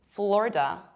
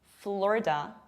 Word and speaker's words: Florida: And surprisingly, this is not Florida, this is not Florida, this is not Florida, but this is Florida, Florida. You can also pronounce it Florida with A, Florida.